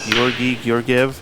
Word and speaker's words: Georgi Georgiev: back in the action 92 table one is pronounced Gori gorv is at the table and another awesome break